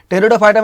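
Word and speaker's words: Pteridophyta: टेरिडोफाइटा में आपको याद रखना है पी साइलेंट होता है, टेरिडोफाइटा इस तरह से लिखा जाता है, ठीक है।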